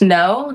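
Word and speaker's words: Ngo: Uh, it's pronounced no. The G is silent, so it's N G O.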